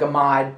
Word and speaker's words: amide: I know it looks like amide, but it's actually pronounced amide.